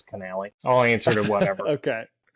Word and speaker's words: Connally: Pretty much everybody pronounces it Connelly, but it's it's Canali.